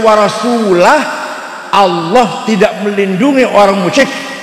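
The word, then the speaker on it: وَرَسُولُهُ: Yang benar bacanya innallaha bari'um minal musyrikin wa rasulah. Allah tidak melindungi orang musyrik dan Rasulullah pun tidak melindungi orang musyrik. Warasulah bacanya, jangan warasulih.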